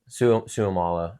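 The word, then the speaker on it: Seumalo: And I know this player, but I always had a hard time pronouncing his last name. Isaac Suamalo. Suamalo.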